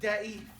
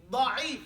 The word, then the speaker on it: ضعيف: حديث ضعيف He's saying hadith da'if, but your pronunciation is terrible. ضعيف Da. ضعف Da. The letter is dog and the letter is dad. That's the issue that we're talking about here. The difference is the pronunciation of a da sound and the pronunciation of a da sound.